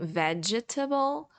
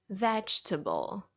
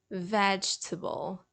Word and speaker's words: vegetable: the letter e because even though it has the letter E in the middle you won't really pronounce it it's not that it's